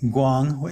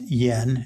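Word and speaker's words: 广: top you have a guang now most people call it guang because it's a simplification of a character called guang but originally it was pronounced yen and it meant building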